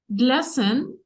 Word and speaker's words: glisten: Glisten, and the T here is silent if you remember a word like glisten.